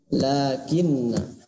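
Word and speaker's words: لكنّا: Nah, ini lakinna, na-nya tulisannya panjang maka dibacanya pendek. Lakinna ini ya, syarat teorinya hati-hati na-nya dibaca pendek. Jadi ketika ada tulisan lakinna maka na-nya ini dibaca pendek ya, meskipun tulisannya dibaca panjang.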